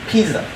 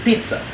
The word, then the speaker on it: pizza: from like alfredo sauce but the Zizi makes the TS son so it's actually not pizza it's pizza right and so just like